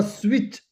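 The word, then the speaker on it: switch: Turn turn the स्विच स्विच T silent है।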